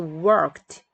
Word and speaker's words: worked: 근데 이 worked 얘는 앞부분에 크 발음이 있어요. 그래서 크와 가 합쳐져서 트가 됩니다. 그래서 worked 이렇게 돼요.